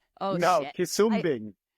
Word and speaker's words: Quisumbing: Quisumbing? Oh, No, shit. Quisumbing. Quisumbing. Wow, I butchered it too.